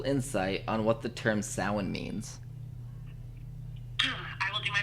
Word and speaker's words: Samhain: And Salon, it looks like it's pronounced Samhain, but it's Gaelic, and for whatever reason, the Gaelic people didn't use the same pronunciation we did.